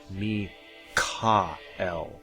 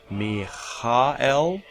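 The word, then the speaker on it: מיכאל: some of you know i'm a stickler for pronunciation and me ca l is the correct pronunciation me ha el no that's that's not me kyle the hard cath not a phet not a hay calf try that in your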